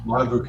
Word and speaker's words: Monovoukas: Mike Monovoukas. Did I say it right, Mike? I always get it wrong. Yeah, Monovoukas.